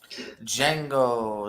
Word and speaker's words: Django: Django, the D is silent.